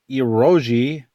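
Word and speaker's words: eroge: all of that out ROG Yoji pronounced ear oh gee it's a whatever of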